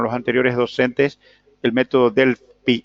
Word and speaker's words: Delphi: Les quiero consultar si vieron ustedes con el anterior o con los anteriores docentes el método Delphi, que se escribe Delphi, pero algunos pronuncian Delphi. P-H-I termina, ¿no? D-E-L-P-H-I.